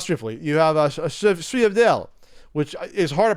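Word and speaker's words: sfogliatelle: You have a sfriadel, which is hard to pronounce because it's spelled Sfoliatelle. Sfriadel.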